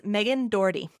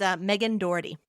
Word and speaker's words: Meghan Dougherty: So I just want to hear you pronounce it. Absolutely. It's Meghan Dougherty. Yes. Sorry, I might have forgotten it. It's Meghan Dougherty.